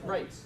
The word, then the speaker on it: Reitz: so tonight our speaker is Kenneth rits did how you say it right yes yes